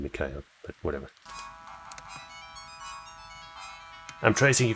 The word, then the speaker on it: Mikhail: Actually, from the way it's spelled in katakana here, it's probably more Mishael rather than Mikhail, but whatever.